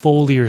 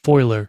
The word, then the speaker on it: foliar: foler sprays or foiler spray I think some people pronounce it foiler some people pronounce it foler either way Tomatoes Tomatoes